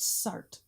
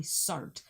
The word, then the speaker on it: surd: So that first dates from 1551, talking about quantities partly rational and partly surd. There it's spelled S-U-R-D-E, but that makes the same sound.